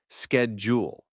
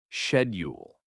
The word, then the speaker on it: schedule: Take the word schedule, for example. Americans say schedule, while the Brits say Shed-ule.